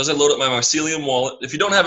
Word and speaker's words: Mycelium: Bitcoin price so as I load up my mycelium wallet if you don't have a mycelium wallet